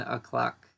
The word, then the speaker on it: o'clock: So we say 9 o'clock or 3 o'clock, 11 o'clock. So we pronounce it o'clock usually, not o'clock.